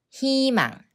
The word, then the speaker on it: 희망: 거의, 거의 예의, 예의 회의, 회의 And when 의 combines with other consonants, not 이응, then 의 should be always be pronounced as 이. 저희, 저희 희망, 희망 문의, 문의 예 is the last pronunciation mistake.